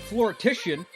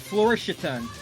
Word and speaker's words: Floritian: With us in the booth in a few short minutes will be Floritian. No, Floritian. There you go. Said it right the second time.